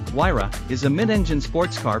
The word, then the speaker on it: Huayra: The Pagani Huayra, Italian pronunciation, Huayra, is a mid-engine sports car produced by Italian sports car manufacturer Pagani, succeeding the company's previous offering, the Zonda.